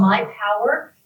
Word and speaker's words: MYPWR: It's called My Power. Power is spelled PWR, so MYPWR app.